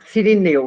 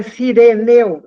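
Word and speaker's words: Cireneu: Não é sireneu da cidade de Serene. É, mas essa é uma questão de tradução, porque às vezes você pode fazer, porque eu tava falando aqui, tá escrito sireneu mesmo com e o pessoal fala sirineu.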